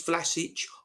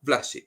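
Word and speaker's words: Vlašić: don't like it go away the name is vlasic i know that but the joke on the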